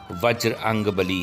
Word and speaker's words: बजरंगबली: हैं अर्थात अल में सही उच्चारण वज्र अंगबली है जो बोलचाल में बिगड़ने हुए अपभ्रंश होते हुए बजरंगबली हो गया इसका उच्चारण आम